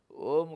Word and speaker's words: ओम: नहीं कहना पड़ता है ओम कहना पड़ेगा और ओम में जब उच्चारण हम करेंगे म का अनुसार के रूप में म का आधा उच्चारण करते हैं नाक से उच्चारण होता है बाकी म से होगा और वह ओम का